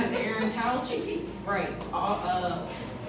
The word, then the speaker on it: Couch: It is that is spelled E R I N C O U C H. Couch like a sofa. Uh my Facebook is Aaron Couch as spelled previously. And my Instagram name is Aaron Couch writes.